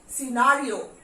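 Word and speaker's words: scenario: Again यहां सी इज नॉट, सिनारियो, सिनारियो. तो सी after S जब भी सी का यूज होता है तो वहां पे सी साइलेंट होता है. Muscle, scissor, सिनारियो।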